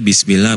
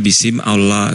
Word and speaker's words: bismillah: Bacanya bismillah buk bukan bisim Allah.